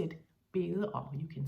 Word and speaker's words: bede: You can say må jeg bede om. It's spelled B-E-D-E, but we pronounce it bede om.